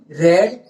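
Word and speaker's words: read: याद रखिएगा कि रीड का दूसरा, पहला, दूसरा और तीसरा सेम होता है, सिर्फ उसे पढ़ने के लिए प्रोनाउंसिएशन में तब्दील है, बाकी सब सेम है, स्पेलिंग सेम है।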